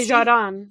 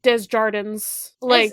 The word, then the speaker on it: Desjardins: It's a zh, not a j. That's what I'm imagining now. You find a pronunciation guide, Bessie? Desjardins. That's it. Okay.